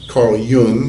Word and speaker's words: Jung: So I read the foreword to the Tibetan Book of the Dead that was written by this Swiss psychiatrist, Carl Jung, as his name is pronounced.